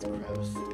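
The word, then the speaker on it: Groose: quarter Plaza and Academy I believe it's pronounced gross gross it's pronounce gross where you at gross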